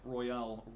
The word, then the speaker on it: Royale: No, well, I was talking about, so Persona 5 Royale. I say Royal, you say Royale. Oh, how does Royale it say? with Persona. That's how they say it in France.